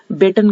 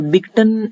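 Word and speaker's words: Beighton: ये जो हमारे कप है, ये हमारा बेटन कप, वैसे तो इसकी प्रोनाउंसिएशन बेटन कप है, लेकिन हम याद करने के लिए अगर देखें तो इसमें बिगटन अगर हम पढ़ें इसको, वैसे बिगटन नहीं है इसकी प्रोनाउंसिएशन, बेटन कप है।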